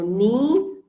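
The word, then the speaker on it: nie: true okay and then i e i e when it's combined you pronounce it as e so ni which means never and z which means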